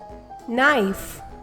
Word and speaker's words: knife: um not knit knee knife knock the letter k is silent g n sounds um